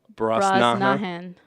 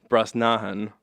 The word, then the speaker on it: Brosnahan: a dialogue Rachel Brooks okay how do you pronounce her name Rachel Brosnahan Rachel Brosnahan said she would ghazal down a bunch of